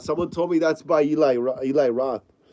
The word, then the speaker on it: Eli Roth: told me that's by Eli Eli Roth or Ellie Roth I used to call him Ellie Roth when I was a kid and I didn't know how to pronounce his name flesh M says CR